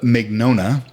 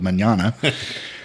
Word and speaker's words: Mignogna: Caleb McDonough is how it's pronounced. For some reason Siri will only call you when I tell her to call Caleb Manana.